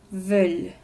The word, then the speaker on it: veulent: Notemos que en la tercera persona plural, es decir, il e él, ellos y ellas, pronunciamos el verbo hasta la L, veulent.